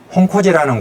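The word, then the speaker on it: 本光寺: 이건 역시 일본에 소장되어 있는데 본광사라는 고찰, 일본 발음으로는 홍코지라는 고찰에 소장되어 있어요.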